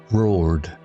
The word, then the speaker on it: roared: Roared sounds like ored, like sword without the sw.